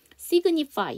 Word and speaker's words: signify: G, N으로 끝나게 되면 G 사운드가 묵음이지만 얘는 뒤에 또 붙었어요. 그러니까 전미사가 또 붙었단 말이에요. 그래갖고 이때는 또 다시 살아요. 그래서 signify 이렇게 되는 거죠.